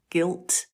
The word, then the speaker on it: guilt: come to exceptions but things like the word guess or guest or Guild or guilt the G is followed by what you are you yeah so that would make you think it's a soft but it's not it's hard it's the same rule it's not i e or Y so it's guess guest Guild guilt there are exceptions we're